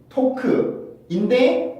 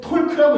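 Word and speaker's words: talk: 토크인데 우리는 톨크라고 읽었던 이유가 글자가 있기 때문에 우리는 그렇게 읽은 거지만 사전에 보면은 L 발음을 써놓은 사전은 없어요.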